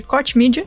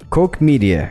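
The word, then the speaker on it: Koch Media: como diz o nome eu vou chamar de coach media Porque sim pera aí acabei de rapidamente encontrei um vídeo aqui Como se pronuncia ah ok então agora a gente sabe olha só ao vivo aqui Jason vai revelar vai revelar Mister Mag exatamente coke media coke media nossa isso aqui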